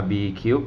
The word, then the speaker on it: RBKube: b e นะ ครับ จะ อ่าน ว่า RB Cube หรือ RB Cub ก็ แล้ว แต่ นะ ครับ อัน นี้ พอ เพื่อน